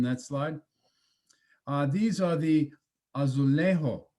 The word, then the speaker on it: Azulejo: These are the Azulejo. Is that correct pronunciation, or is it a soft J? Azulejos.